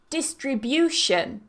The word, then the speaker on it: distribution: syllable competitor and competitive distribution distribution however watch it with the next one distributor distributor so the stress changes with these two distribution distributor number 27 there are